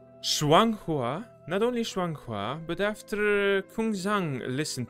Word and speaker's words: Shuang Hua: How do I pronounce that? Kusang, Kusang, Kusang. Oh, not only Shua Hong, Shuang Hua.Not only Shuang Hua, but after Kung Zhang listened to my side